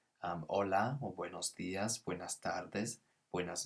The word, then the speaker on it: hola: that's our first word hola and also notice that the h is not pronounced so it's not holla but so in spanish